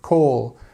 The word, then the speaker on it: call: Or sound, call. Okay, I say call, and the Americans might say call.